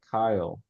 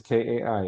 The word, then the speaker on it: Kai: So you had said Kyle, or it had sounded to me like Kyle Oh, at one isn't it point. Kai? It is Kai. It is a Japanese word.